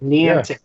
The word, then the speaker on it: Niantic: Niantic. I don't know how to say their company. Niantic.